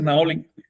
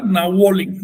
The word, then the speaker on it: Naolin: Pero como nombre propio dices Naolin. ¿Sí? Nunca Nahuolin, no, eso no. Eso simplemente no se puede pronunciar en Nahua. La apócope de Nahui no es Nahu, sino Na. la poco, pero mejor dicho, en composición de nombres, Naolin, etcétera.